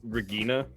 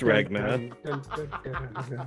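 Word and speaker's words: Regna: it i have uh regina the partner with prof isn't it ragna i like that you said rigid i don't know yeah it's ragna i like that very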